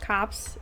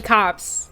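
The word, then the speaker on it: copse: i i looked it up it is actually pronounced cops it's no no no it came from the word compass meaning a small group of trees oh yeah it is so it is actually cops like legit actually the actual name is corpse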